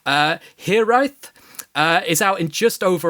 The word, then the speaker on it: Hiraeth: But anyway, your latest single, and I'm going to probably get the pronunciation completely wrong, Hiraeth, is out in just over a week, dropping November 6th.